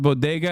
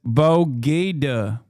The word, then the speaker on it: bodega: Throwback when Jill pronounced bodega as Bogeda.